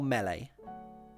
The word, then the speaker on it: Melee: Is it pronounced Melee or Melee?